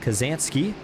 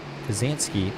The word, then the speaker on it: Kazanski: Scott says hello Austin my name is pronounced like K kazanski Top Gun kazanski I dro the sky